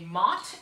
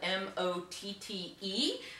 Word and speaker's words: Motte: a nice example of what we call a Motte and Bailey Castle Mott is spelled M ot te Motte is this hill that's an artificial hill